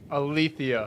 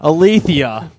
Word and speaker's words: Alethia: Pronounce it for me. Alethia. Alethia.